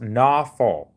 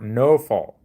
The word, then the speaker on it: Nawfal: It's typically pronounced Nawfal or Nofal per grok.